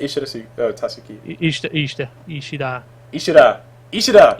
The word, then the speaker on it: Tsuki: the U, yeah, the U gets swallowed because in Japanese they don't really use the U sound. Alright, I was just saying Ishida Tsuki.